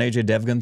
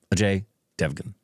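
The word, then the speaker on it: Ajay Devgn: though are we going to do like an AJ devun thing with his new film no no or I should say AJ pronounce it properly AJ Devan I believe all right we got it without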